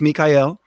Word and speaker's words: Mikael: So if anyone wants to know, so it's it looks like Michael. It's pronounced Mikael.